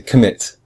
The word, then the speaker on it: commit: commit has two syllables com and mit but we hear we say mit much stronger than com we say we say commit we don't say commit